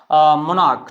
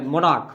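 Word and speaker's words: monarch: पे सीच है लेकिन च का उच्चारण नहीं हो रहा है यहां पे किसका उच्चारण हो रहा है इसका उच्चारण हो रहा है क का तो आप इसमें क्या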